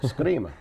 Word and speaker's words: Scrima: My name is Ron Vecchia, and joining me today is Scrima. That's correct pronunciation? I hope, Or? Scrima, if you want to be Italian Scrima? about it. Yeah. Scrima. Yep.